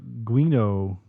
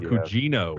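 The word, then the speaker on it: Gugino: that um i'm just doing some sewing carla guinoa i can't pronounce her last name from gerald's game yes carla cugino pougino thank you yeah she uh i don't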